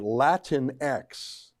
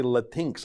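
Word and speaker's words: Latinx: how to say it latin x i some people say la tinx i think it's latin x it's a way of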